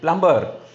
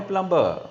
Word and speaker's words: plumber: Plumber. It is not a plumber. Understand? It cannot be plumber. It's a plumber. It's a plumber. B is a silent word.